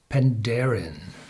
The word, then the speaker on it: Penderyn: gaelic and it's pronounced panderin so it's pronounced on the second syllable as most of the gaelic words are and this one is